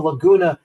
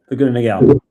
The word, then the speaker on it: Laguna Niguel: Obviously, not just in Los Angeles and San Diego, but from the Lagona. Uh, if I'm mispronouncing it, you can you can help me. Niguel, is it Laguna? Laguna Niguel. Niguel. Thank you very much.